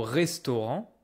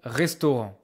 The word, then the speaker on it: restaurant: Careful about the pronunciation. This is not restaurant. This is not restaurant. I don't hear N. I don't hear T. OK. The A. They make this single nose voile en au restaurant.